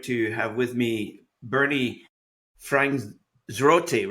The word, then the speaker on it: Franzgrote: It's Franzgrote anglicized, and if you're doing it Germanically, it's Franzgrote.